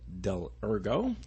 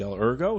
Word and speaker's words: Dell'Ergo: And I also have Dell'Ergo. Did I say it right? You sure did. Yep. Dell'Ergo.